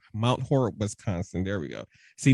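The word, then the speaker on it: Mount Horeb: oh oh m m MB MB okay M mount horb mount horb Wisconsin there we go see Nathan Crystal help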